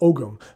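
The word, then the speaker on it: Ogham: an ancient celtic language called om or ogum depending on whose pronunciation you follow you actually read it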